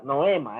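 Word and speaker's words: νόημα: que carga mucha mucha noema Es que se dice mucho noem Bueno se dice noa noima en griego pero se escribe noema pero se dice Noa el noima Pero está bien noema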